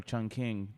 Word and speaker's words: Chongqing: we got taken to this point surreal because Chongqing or Chung or Chung King depending on like you know how you want to pronounce it it was a former capital and